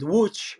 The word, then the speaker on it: Łódź: It's close to from Warsaw is approximately a 1 hour drive by car, and the city is called Łódź. However, it's spelled Lodz, so it's a complicated one.